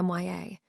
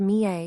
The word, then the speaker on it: Mya: He calls me MYA. I tell him it's pronounced Mie, yet he still calls me MYA.